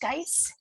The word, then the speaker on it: geis: to undo an unfortunate i think it's pronounced guys g-e-i-s yeah so this is